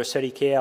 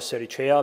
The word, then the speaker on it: Sericea: of all the name the pronunciation I've seen that many people struggled with it is either 30k or Siri chair based on the kind of plating you want to use classic Latin would be Sarika ecclesiasticating would be a